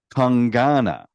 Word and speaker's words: Kangana: the comment section that her name is pronounced kangana like Kung Pao chicken is how it was